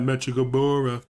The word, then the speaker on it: Mechikabura: Reason why I say it like that, Mechikabura, is because it goes with the Bibbidi Bobbidi Boo song from Cinderella.